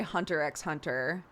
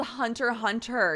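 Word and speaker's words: Hunter × Hunter: It's like so I also say hunter x hunter and people hate that. It's called hunter hunter. You don't pronounce the X.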